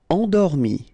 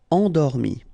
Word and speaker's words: Endormi: Endormi. Remember, E-N, en. Endormi.